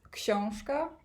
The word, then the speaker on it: książka: It's pronounced książka in Polish, and it's by Keith Houston, so it's obviously a translation, and the original title is the book.